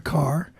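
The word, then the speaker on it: Kerr: of course and Deborah Carr I always have to me it's always a little funny because her name is spelled k k e r r but it's pronounced car and at that time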